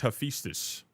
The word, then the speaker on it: Hephaestus: It's Hephaestus. Hephaestus is what it's pronounced like, roughly.